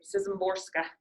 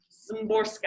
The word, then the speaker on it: Szymborska: I meant to look up how you say her name, Szymborska. Szymborska, I think is how you say it.